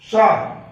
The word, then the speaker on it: pshaw: लेकिन वैसा ही है, PSHAW, शाह, इसको शाह बोलेंगे, P साइलेंट रहेगा।